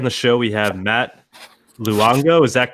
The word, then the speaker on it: Luongo: Today on the show we have Matt Luongo. Is that correct? Is that the correct pronunciation?